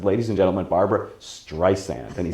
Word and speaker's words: Streisand: around he he kept ed sullivan kept calling her barbara street sand and it drove her crazy when people couldn't say her name it really it was like fingernails on a blackboard for her she said i would say my name correct and she stood behind the curtain saying streisand streisand and you can see